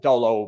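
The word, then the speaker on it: Dalot: It is Diogo Dolo, by the way. Diogo. Somebody's trying to pick me, Kev, up on his pronunciation.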